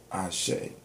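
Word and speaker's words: Axé: That's from me dealing with Capoeira, because in the way they spell it in Brazil is A-X-E with a dash over, because I guess the X makes like a chi sound. So it's Ashe.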